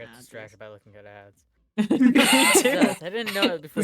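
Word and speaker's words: adze: Adsa. No idea. And a hammer. I'm googling it. Paraphorps. Also googling it. And these other It's just pronounced ads.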